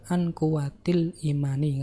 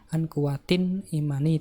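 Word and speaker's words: عن قوة الإيمان: nggak boleh ada tanwin, maka harus dibaca an kuwatil imani, nggak boleh an kuwatin imani, itu nggak boleh, atau an al kuwati al imani, itu nggak boleh, harus an kuwatil imani.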